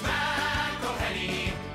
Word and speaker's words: McElhenney: It's McElhenney. McElhenney. What ways to massacre and mispronounce it, there are many.